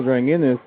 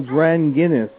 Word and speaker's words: Dranginis: I'm sorry I missed talking to bill bill drying in this he was at the Ohio conference last week and by the way bill dren Guinness Thank You Fran Guinness that's correct way to